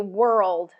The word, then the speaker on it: world: do and then do world world World there you go World yep so there's a very definite dark l in there good okay how